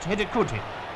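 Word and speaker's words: Hidegkuti: The scorer's name is pronounced Hidikuti, I hope.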